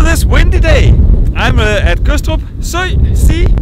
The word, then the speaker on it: Gødstrup: But this is Gødstrup, the people from other areas of Denmark would say Gødstrup because they're retarded. We do not do that because the D in Gødstrup is not pronounced. It's mute.